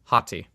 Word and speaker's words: Hati: So, her name is spelled A or no her name is H A T I Hottie.